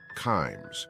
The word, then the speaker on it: Kimes: picture said in part kimes rhymes with climes the competing Washington Post